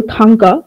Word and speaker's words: thangka: We can say that if we go to the first example, thangka, which means wall hanging painting in Tibetan, thang, the first syllable, it is stressed, and the second syllable, ka, it is not stressed.